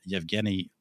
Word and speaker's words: Yevgeny: However, the first noteworthy verse novel was Pushkin's Eugen Onegin, written in, or as the Russians would pronounce it, Yevgeny Onegin, written in 1831.